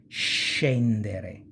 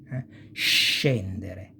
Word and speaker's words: scendere: And scendere, to go down. And it's pronounced pretty much like cash, this sh sound, okay?